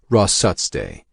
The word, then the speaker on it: rosat: Jake's Mohawk name rosat he pronounced it rut day it meant strong like